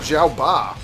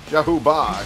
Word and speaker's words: Zhao Ba: Oh, I got Zhao Ba. Zhao Ba, exact. That's exactly the pronunciation.